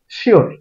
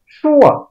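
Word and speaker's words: sure: এটাকে আমরা নিয়মিতই ভুল উচ্চারণ করি। এটাকে আমরা উচ্চারণ করি শিওর। এটার উচ্চারণ হবে আসলে শোয়া অথবা শো, শোয়া অথবা শো। এটা ব্রিটিশ উচ্চারণ করে। আমেরিকানরা শেষের দিকে রটা আলতো করে উচ্চারণ করে, যেমন শোয়ার অথবা শোর। আপনি ব্রিটিশ আমেরিকান যে কোনোটা উচ্চারণ করতে পারেন।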